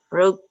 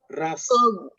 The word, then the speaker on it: rough: Rogue. Okay. Nah, inilah bahasa Inggris. Ini dibacanya rough. Rough. Dibacanya rough.